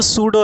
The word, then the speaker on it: pseudo: ये जो सूडो है, इसको ध्यान रखना बेटे, सूडो, ओ सूडो तो सूडो की स्पेलिंग भी याद रखना, पी इसमें साइलेंट होता है या फिर म्यूट होता है, SEUDO, सूडो।